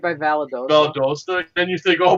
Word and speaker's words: Valdosta: did y'all go how do you say it Valdosta yeah so we're from We're from the north